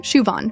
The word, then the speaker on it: Siobhan: Siobhan O'Brien, Shuon, perfect.